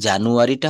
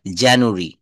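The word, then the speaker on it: January: আমরা জানুয়ারি বলি, এটা কি জানুয়ারিটা হবে? সঠিক বলতে হবে জানুয়ারি, জানুয়ারি। দেখেন জে এ এন ইউ এ আর ওয়াই।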